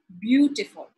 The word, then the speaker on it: beautiful: er, or, ly, and if it is a noun or adjective, the stress would come right in the beginning. Beautiful, beautiful, three syllables.